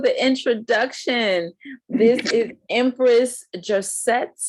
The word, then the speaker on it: Joshett: This is Empress Joshett. Am I pronouncing it correctly? yep, it's Joshett.